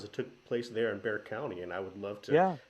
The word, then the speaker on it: Bexar County: accounting some of you guys but yeah it's pronounced Bexar County just uh right there in that San Antonio